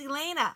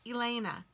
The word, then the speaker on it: Ilena: Oh, it's Ilena. I am so sorry. I'm so glad you told me how to say it. Ilena.